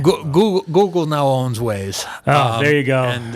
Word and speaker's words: Waze: What is that, like Wave? Waze.